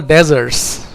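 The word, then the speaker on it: dessert: डेजर्ट का मतलब रेगिस्तान और स्पेलिंग अगर डी E double S ई आर टी है अगर डबल एस लगा है तो उसको बोलते हैं हम डिजर्ट डिजर्ट एक मिठाई या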